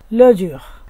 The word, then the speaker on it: le jour: আর এর উচ্চারণটা একটু হালকা করে উচ্চারণ করলেই হয় জুহ, ল জুহ অর্থ দিন।